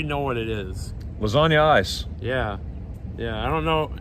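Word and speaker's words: Eis: word for ice cream but they say ice but it's spelt e-i-s hey dario's got the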